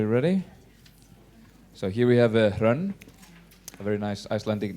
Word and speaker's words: Hrönn: And well, my name, it's pronounced like Hrönn, so if you want to talk with me afterwards, it's easier to pronounce that way.